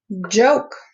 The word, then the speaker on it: joke: Joke. I love a good joke. True story. I don't hear the E, but I hear the O, the name of the O.